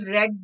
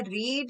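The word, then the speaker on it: read: इसको हम कैसे प्रोनाउंस करते हैं, रीड, रेड, रेड। सेकंड और थर्ड फॉर्म को हम रेड प्रोनाउंस करते हैं।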